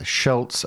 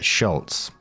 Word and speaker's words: Schultz: Now, the spelling is different here, so it's s h u l t z versus s c h u l t z. It is the difference of a single silent letter.